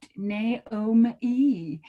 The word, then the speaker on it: Naome: Well, it is even more unique because it's spelled phonetically. And for those of you who don't know what that means you sound it out, Naome.